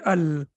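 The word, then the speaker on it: ال: it has kas but what is restricted to al it is always pronounced with fatha as of now your takeaway is only this the rest please don't worry about that your takeaway should be that whenever we have al we have to pronounce it with fatha we cannot say and we cannot say ill we have to say al that's the only thing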